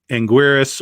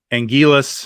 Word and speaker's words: Anguirus: of course uh uh anguirus or angelus however you want to pronounce that uh depending on how american you are um there are a